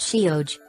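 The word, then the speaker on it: sióg: During the passage of that time, the word Sai came to be applied to the fairies themselves, fairy being Sihiog pronounced Shioj.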